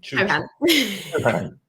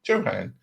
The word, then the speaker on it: Chauhan: Chauhan. Chauhan. It's like Chopin. But Chopin.